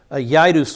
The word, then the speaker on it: Jairus: came a man named jairus yadus is his name there is no j in the hebrew yaidus would have been the